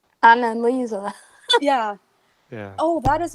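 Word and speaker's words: Anneliese: Even Annalise as a character, I cannot pronounce it with the slight And accent. Elisa. Annalise. Annalisa, yes, yeah. Yes. Or as she said it, as the narrator said it, Annalisa.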